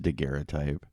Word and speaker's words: daguerreotype: you know what a dakera type is oh man how do i describe a daguerreotype bri i'll just let you know briefly the difference between a daguerreotype and it's pronounced daguerreotype and a photograph in